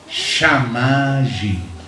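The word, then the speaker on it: שמים: Cielos se dice Shamayim. Y aguas se dice Mayim.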